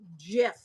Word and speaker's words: GIF: Nene welcome in GF is pronounced GIF like the peanut butter hello JRE it's game